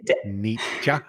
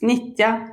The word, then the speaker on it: Nitja: Yeah, it's called Nitja. Ni Nitja? No, no, Nita. No, it's not the ch. It's Nitya. So it's like ninja, but then you would exchange the N for a T.